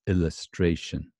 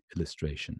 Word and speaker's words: illustration: can hardly hear it so it's illustration illustration does that sound all right right through this Shan Shan's hardly couldn't hardly hear it right very small so it's very very very very unstressed I suppose you could say illustration and very short raishin illustration okay there's different